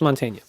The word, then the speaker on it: Mantegna: to say the name Montaigne it's been there's been of many episodes and I still don't know how to say that name it's Montaigne Kim Cattrall chat trial is